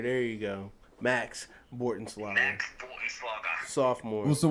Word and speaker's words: Bortenschlager: Matt Bortenschlager. Bortenschlager. There you go. Max Bortenschlager.